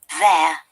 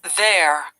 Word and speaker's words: there: There. There. There. Okay, you have to remember that there, according to the British IPA, we do not pronounce the R sound in this case.